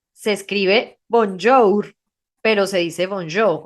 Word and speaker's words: bonjour: las palabras no se pronuncia Entonces por ejemplo bonjo se escribe bonjour pero se dice bonjo o sea al final